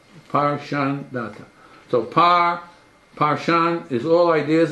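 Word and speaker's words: Parshandatha: But to give you one, when you analyze the name, it's either 3-syllable or 2-syllable. So it's Par Shan Data. Par Shan Data.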